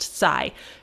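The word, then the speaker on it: 西: the word for extreme both of them are pronounced sai japanese is an amazing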